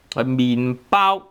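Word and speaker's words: 麵包: 麵包麵包.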